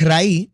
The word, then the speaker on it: Raí: Dinos del nombre bueno el nombre es raí que es la palabra coloquial ente pronunciada cibaeño la palabra raíz laeta eso es raíz